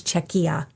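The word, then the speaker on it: Czechia: I could be very wrong about that, but um I did look up the pronunciation. It is Czecha.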